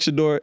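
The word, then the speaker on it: Shedeur: Therefore, it's pronounced Shadeur, right?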